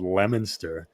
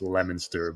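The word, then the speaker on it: Leominster: So I'm from this town originally called Lemonster and it's it's it's pronounced Lemonster, but it's actually spelled Leo Minster. L E O M I N. Leo Minster. They say Lemonster.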